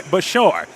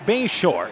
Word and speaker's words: Bashar: Underwood is done by Bashar and uh he has been outstanding kickoff guy to lead them offensively it's actually pronounced Bayshore is how that's pronounced so Bayshore to launch